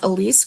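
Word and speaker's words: Elyse: E L Y S E Crochets is the um Let's see. Timer off. Okay, so it's Elise Crochets. That's how it's spelled.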